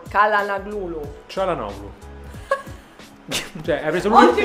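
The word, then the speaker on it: Çalhanoğlu: Per esempio, come si pronuncia Calhanoglu? Calhanoglu.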